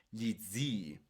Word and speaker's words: gli zii: Con doble i sería i pendii, gli zii. ¿Ok? Se tiene que pronunciar un poco más largo.